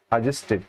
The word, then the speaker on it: adjusted: अब देखो ये डी के बाद जब भी जे दिखाई दे जाएगा, ए आया है उसके बाद डी और जे दिखाई देता है। ठीक है, तो डी साइलेंट हो जाता है, डी को बोलते नहीं, ठीक है। और टी के बाद ईडी आया है तो यहाँ पर टिड हो जाएगा, adjusted, ठीक है।